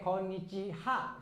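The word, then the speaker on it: こんにちは: Sebenarnya ha bukan. Tapi yang benar adalah wa ya. Walaupun tulisannya tetap harus pakai ha gitu ya. Pakai ha, tetapi sekarang walaupun tulisannya ha tapi cara bacanya wa gitu. Kenapa?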